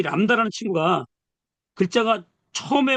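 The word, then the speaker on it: λάμβδα: 그런데 얘 친구가 이렇게 이 람다가 중간에 올 때가 있어요. 모음, 모음 사이에 들어올 때가 있어요. 이 람다가. 그럴 때는 발음을 리을, 리을 발음을 두 번 해주라 이 말이에요. 그러니까 우리가 지금 요 람다를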